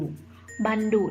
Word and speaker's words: บัณฑุ: ส้ม เลย นะ คะ อ่าน ว่า บ่ อะ โน บ้าน ดอก กุก ดุ บัณฑุ นะ คะ หมาย ถึง สี